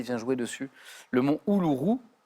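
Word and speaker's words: Uluru: quand le soleil vient jouer dessus le Monot houourou u l u R u mais reméy l'a très bien prononcé peut-être que d'ailleurs reméy l'a vu j'ai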